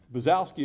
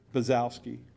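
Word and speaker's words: Bonczewski: it as b-o-n c-z-e-w-s-k-i how do you pronounce that buzzowski is how he pronounces it pronounces it buzzowski we don't know that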